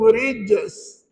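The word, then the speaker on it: رجس: Jadi perempuan kena pandai ni, tukar channel. Daripada jim tengah lidah kepada hujung lidah. Jadi bacanya innahum rijs.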